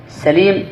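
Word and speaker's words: سَليم: سليم بفتح السين سليم، والثاني سليم بضم السين.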